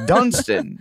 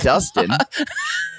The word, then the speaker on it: Dunstan: it was Dustin what it's Dunstan you keep saying it wrong it's not Dustin it was really tough